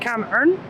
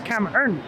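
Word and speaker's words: cảm ơn: language of thin tus earlier I said come n n no it's cam n which is thank you and he asked if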